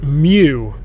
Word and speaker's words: Mu: is its sister city I I hope I'm pronouncing this right Mew it's just spelled mu there are two cities